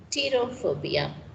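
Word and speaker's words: pterophobia: is also known as terror phobia p is silent to here then fear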